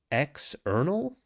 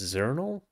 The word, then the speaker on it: Xournal: that I discovered called external or maybe it's zernal it's probably zernal but I like to call it external and that's just x o u r n a l like the word Journal but spelled with an X instead of a j and what's very